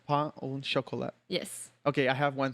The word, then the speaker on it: pain au chocolat: Did I pronounce that right? No. Okay. It's pain au chocolat. Pain au chocolat.